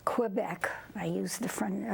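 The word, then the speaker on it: Québec: lived in Canada uh Quebec Quebec I use the fr the French pronunciation and uh then we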